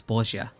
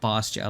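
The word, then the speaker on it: Bozja: So, I've been trying to correct my uh my pronunciate because it is bosia. Bosia, not bosia like I like to say or like a lot of people say honestly.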